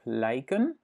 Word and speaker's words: lijk: Ik lijk op hem. Donc, cadavre et ressembler à. Et ici, c'est juste une partie d'un adjectif, ok? Et het lijk, là, on prononce en effet ei.